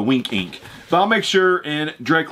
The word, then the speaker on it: W1nkinc: link down below to winking if you wanted to search form winking is spelled was it w1 NK i NC pretty sure it's how he supposed the wink ink I'll make sure and